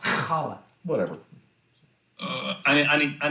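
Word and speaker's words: challah: he was making with Chala bread it's pronounced kala whatever I I need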